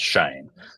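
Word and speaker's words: Schoen: say sh and uh but the Giants official website says that it is pronounced Shane Joe Shane so we'll go uh with Joe Shane sorry for butchering your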